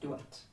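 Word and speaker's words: Dowth: We pronounce it Dolt, okay? But in Gaelic, that was pronounced Duat. Mm-hmm.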